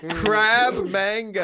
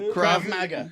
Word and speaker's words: Krav Maga: Crab manga. Krav manga. No, Krav Maga.